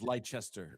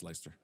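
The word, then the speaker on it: Leicester: Um, so Lyster uh over I think I pronounced that right. I believe it's Lchester. No, I'm just It's You're right. It's Lyster.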